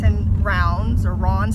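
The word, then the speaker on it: Raunds: It's in Rounds, or Ron's. How do you say it, Dougs? Ron's.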